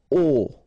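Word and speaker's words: aux: can see that here you combine a plus Le and you will get this AIX okay and then phonetically you produce it or you pronounce it o okay so here o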